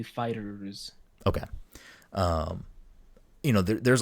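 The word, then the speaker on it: FighterZ: which mike is it dragon ball fighter z or fighters i never know how to pronounce that game i believe it's technically fighters okay um you know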